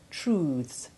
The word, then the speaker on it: truths: The sound becomes hard in truths, youths and mouths.